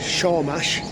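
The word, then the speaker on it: Sormás: Uh Shaw Mash. It's spelled Sawmas.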